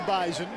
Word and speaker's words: Bison: chain it is the Bison the Z is invisible the Z in there you're exactly right but it is audible that's how they say it up and Fargo you will hear about